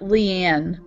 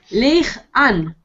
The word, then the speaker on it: Leanne: En inglés se pronuncia Leanne. Leanne. Sí. Ok. Pero los español hablantes nunca lo pronuncian bien, está bien. Sí, es complicado porque, claro, yo diría Leigh-Ann. Yeah. No, it's not Leigh. Y es Leanne. Bastante diferente.